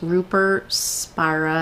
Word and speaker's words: Rupert Spira: answering that lady's questions is Rupert Spira I think that's how you pronounce it spurs Spira just in case you're